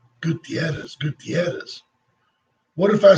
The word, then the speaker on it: Gutierrez: It's a matter of taking the time to learn to roll your R. Gutierrez.